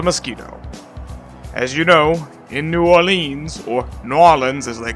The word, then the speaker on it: New Orleans: Realm by way of New Orleans. You have to say it like that, New Orleans.